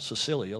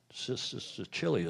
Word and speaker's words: Sicilia: Circolo della Vela Sicilia, I'm told that's pronounced, not Sicilia like we might, Sicilia, is that right?